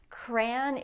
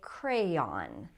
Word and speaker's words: crayon: Crayon is probably the more common pronunciation. That's the way I say it, but some people say crayon, crayon, and you can say either one.